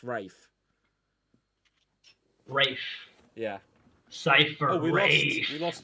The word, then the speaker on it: Ralph: Uh I can't just um type in Ralph or Ray cuz his name is Ralph. It's pronounced Rafe. Is it? Yeah, it's Rafe. Fines. It's not Ray. It's Rafe.